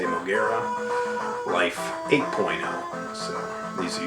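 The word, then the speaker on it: Moguera: is 4.0 and then moera or mura however you prefer to pronounce the name I say mogera life 8.0 so these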